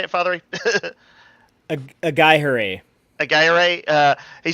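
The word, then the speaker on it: Aghayere: Ito Agaya? How do you say it, Fathery? Agayere.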